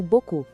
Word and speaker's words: beaucoup: Uma coisa muito importante, o P no final é mudo, a gente não fala, então soa como beaucoup.